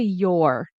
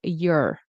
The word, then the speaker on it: your: We're going to reduce it. We're not going to say your. You can, but in connected speech, casual speech, conversational speech, we'll say your. Okay? It rhymes with her.